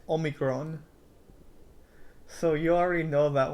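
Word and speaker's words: όμικρον: This one is almost exact. Omicron in Greek is Omicron.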